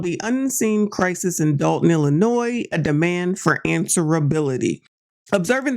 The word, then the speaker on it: Illinois: Illinois this video we'll look at how to pronounce Chicago and Illinois ill noi Illinois hey there besties we got a talk so